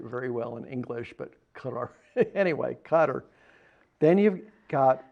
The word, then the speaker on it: Qatar: Some people, we don't pronounce it very well in English, but Qatar.